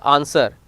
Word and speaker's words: answer: Some common words like answer, to, sword is remain silent.